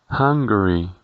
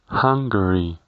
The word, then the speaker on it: Hungary: Para el caso de Hungría, en inglés le diremos Hungary, Hungary. Tengas en cuenta que la pronunciación de la letra U sonará como una A.